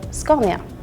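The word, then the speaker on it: Scania: a lot of Melody so in Sweden we would say sconia I think in Germany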